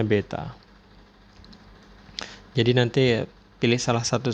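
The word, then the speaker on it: β: Nah, ini dibacanya beta.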